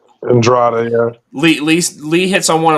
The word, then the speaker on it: Andrade: Andrade, yeah.